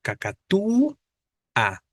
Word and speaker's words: cacatúa: la a en cacatúa Pero cuál es la tónica pues la débil la u cacatu a no Entonces es este